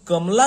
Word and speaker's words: कमला: एक तो उच्चारण आधा हो जाता है और हमारा एम्फेसिस यहाँ के जो इसके अंतिम अक्षर में जो आ की मात्रा इस पर आ रही है, कमला।